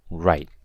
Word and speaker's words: write: and finally we have the word right with a silent w right means to write